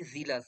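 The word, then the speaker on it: zealous: For country honour আগ্রহ জিলাস মানে কি? জিলাস মানে হচ্ছিল জিল। জেড ই এল থেকে এসে জিলাস। ঠিক আছে? জিলাস। উচ্চারণ কি? জিলাস নট জেলাস।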